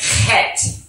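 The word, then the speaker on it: חית: But in the Hebrew, it's pronounced Chet. Chet. It's a hard H-E sound. The C-H is pronounced as a H, a hard H-E, a gargled H-E.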